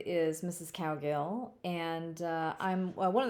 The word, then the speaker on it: Cowgill: it so my first the first syllable of my name is cow uh it's pronounced cow and the second syllable of my name is gill you know like how a fish breathes so it literally is